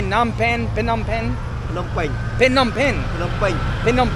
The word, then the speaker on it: Phnom Penh: I say Phnom Penh, Phnom Penh.